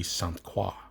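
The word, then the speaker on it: Croix: price stands for St Croy tactical and they're located in Hudson Wisconsin the French pronunciation would be squa the sat9 has stainless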